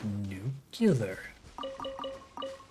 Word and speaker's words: nuclear: dormant nuclear nucleus healer it's pronounced New Killer nuclear take care of